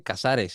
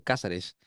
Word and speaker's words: Cázares: cuando vas, es como cuando te dicen, no se dice Casares, se dice Cázares.